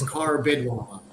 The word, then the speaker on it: Carbido: Very very close. Uh, it's Carbido. Carbidwa.